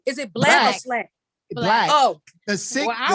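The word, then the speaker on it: Blxst: I call him Six Lack, but Slack, I think is so lit. I would love to hear. Is that how you say his name? Is it Black or Slack? Black.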